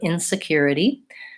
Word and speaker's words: insecurity: can let me know I'm noticing that it has the it e the flap t towards the end P and the stresses on the third syllable insecurity so I'm not cure